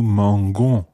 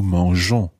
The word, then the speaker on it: mangeons: You keep in the E to make sure that the G still sounds soft. So nous mangeons.